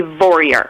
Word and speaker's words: Vorreyer: It's like warrior with a V, Vorreyer.